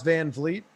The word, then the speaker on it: Van Vliet: makes it easier than trying to pronounce van vleet although once you've heard it i guess you can say vanvleet unless you're tony kahn